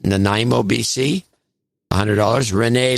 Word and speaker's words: Nanaimo: uh quentin proud in nainamo sorry i know how to pronounce it nanaimo bc a hundred dollars